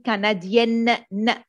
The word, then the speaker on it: canadienne: Je suis canadien, but if I'm talking about a woman or I am a lady, je suis canadienne.